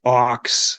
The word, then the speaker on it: Aawks: so help me out band is pronounced Ox like the animal okay that's what I